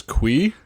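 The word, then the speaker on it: Cui: it's c-u-r uh i i heard it pronounced in the show as qui qui okay so he sends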